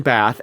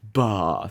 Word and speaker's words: Bath: Which that's just how I'm going to pronounce it. Bath. Actually, it's not. You're going to hear me talk about my Midwest Bath.